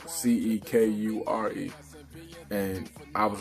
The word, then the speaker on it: Cekure: my name is spelled Cekure, and I was like, I know C actually makes the same sound as S in some cases, like with the word scent.